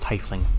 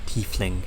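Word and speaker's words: tiefling: of the tie flings it's pronounced tifling not thiefling i don't know why they keep pronouncing it weird that's besides the point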